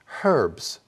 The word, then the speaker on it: herbs: talking about herbs well when we're talking about herbs we don't have that h sound however when you're talking to someone uh from that part of the world or maybe in australia they might pronounce that h herbs herbs do you use herbicides